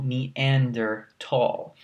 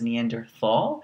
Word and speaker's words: Neanderthal: This is actually a German word. There's a region called Neanderthal in Germany. So it's actually Homo Neanderthal, but you'll be probably looked at kind of weirdly if you say it like that. But it's important to recognize that that's actually how you say it.